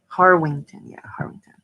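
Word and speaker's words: Harwinton: Wait, it's pronounced Harwington.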